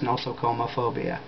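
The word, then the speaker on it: nosocomephobia: to pronounce the phobia I think it's no sooma phobia n o s o c o m e phobia the fear of hospitals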